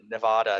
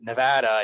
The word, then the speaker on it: Nevada: oh, it's great to be out here in Nevada. And they were like, it's Nevada, and you clearly ain't from around here.